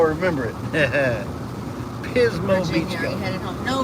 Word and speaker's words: Pismo: from Pismo Beach California cuz Pismo rhymes with Gizmo and that's how I remember it Pismo Beach we headed home